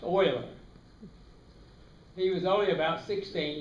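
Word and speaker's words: Euler: leonard oiler boiler oiler e-u-l-e-r pronounced oiler he was only about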